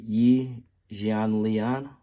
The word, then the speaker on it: Yi Jianlian: You pronounce it Yi Jianlian.